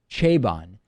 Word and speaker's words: Chabon: Michael I believe the the last name is pronounced chabon the Yiddish policeman's Union